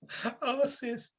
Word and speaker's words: Arceus: Arceus. I cannot believe that game is pronounced like that.